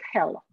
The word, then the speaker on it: Hel: Hell means light, right? So. Yes, but it's one L, but it pronounces hell.